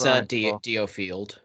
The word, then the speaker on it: DioField: It's Diofield.